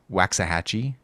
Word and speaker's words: Waxahachie: called I walked with us from Waxahachie cheese Waxahachie is that how you say it yeah yeah